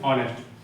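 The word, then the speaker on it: honest: हमारा क्या हो जाएगा होनेस्ट हो जाएगा ऑनेस्ट सॉरी हॉनेस्ट नहीं ऑनेस्ट ठीक है साइलेंट रहता है 66 66 हमारा क्या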